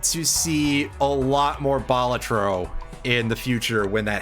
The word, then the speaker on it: Balatro: yeah all right also I technically pronounced it wrong again it's batro but uh listen I'm